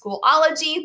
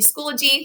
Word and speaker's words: Schoology: now and you'll see it kind of looks like it's pronounced schoology but it's actually schoology because if it was schoology there would be two l's and not one okay a little etymology